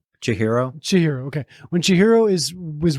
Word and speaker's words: Chihiro: Chihiro.